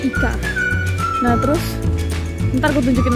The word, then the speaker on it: ICA: Bacanya bukan ICA ya, tapi ICA.